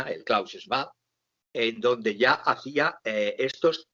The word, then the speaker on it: Klaus Schwab: libros de este señor Klaus Schwab, lo pronuncio a la alemana, el Klaus Schwab, en donde ya hacía